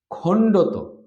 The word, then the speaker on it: খণ্ড ত: খণ্ডত, এটা হচ্ছে খণ্ড ত, এটার উচ্চারণ হচ্ছে তয়ের মতো, খণ্ড ত।